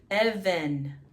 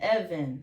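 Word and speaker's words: אבן: over, and we know the bet in the middle now becomes a V, ve, same pronunciation because you have 3 dots below it, and the noon sound that closes out the word, even, same, even, that means stone, God.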